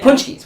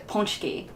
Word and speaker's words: Pączki: Detroit, but you get Pączkis, which are like, you know, the... Which I don't think that's actually how you pronounce it. I think it's Pączki. Because it's Polish.